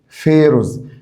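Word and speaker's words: pharaohs: عشان مهمه جدا فيروز فيروز هنا طقت البي اتش نطقتها اف فيروز فيروز طبعا فيروز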